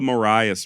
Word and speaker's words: Marias River: So in all actuality, if you want to be correct, it's Maria's River, not the Marias River. However, it does appear that Montana locals do call it the Marias, so I also chose to go with that pronunciation.